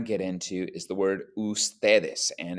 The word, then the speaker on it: ustedes: That does not mean pronounce it UDS. It's pronounced ustedes, just like the word written there in the circle.